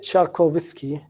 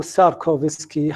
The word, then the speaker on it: شاركوفسكي: البند الأخير في هذا الفصل هو 2.6 نظرية شاركوفسكي أو ساركوفسكي حسب ما تلفظ.